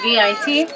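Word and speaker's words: wyd: They can reach up to 5,000 pounds, and their name isn't a color, it's the Afrikaan word white. It's spelled V-I-T, and it means wide, and that's because their noses are flat and wide.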